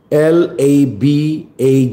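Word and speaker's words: LaBagh: But but the spelling is L A B A G H. Silent GH po. Laba.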